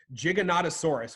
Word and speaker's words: Giganotosaurus: Giganotosaurus, which means giant southern lizard.